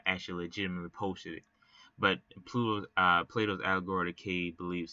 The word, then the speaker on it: Plato: Plato said, I believe it's pronounced Plato. I don't know why I said Pluto, but Plato.